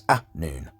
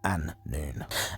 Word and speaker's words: Anun: mean that in Anunnaki, because it's Anun, not An-nun.